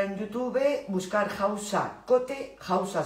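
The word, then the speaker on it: Hausa: YouTube Buscar jausa cote jausa se escribe con h h a U S a cote que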